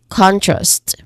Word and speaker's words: contrast: Okay, so here we try to really emphasize the first syllable, which is con. So this is contrast. Again, contrast.